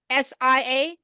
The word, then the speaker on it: Sia: Is Sia? Did I say her name right? Sia? C? SIA? That's Sia. Sia.